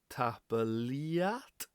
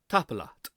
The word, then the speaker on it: tapadh: And people see EA and they think, Ia, TAPADH. No, very short. TAPADH.